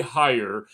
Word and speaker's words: Heyer: Uh, today I have a very special guest, Gary Hire. Right, that's how I uh pronounce it.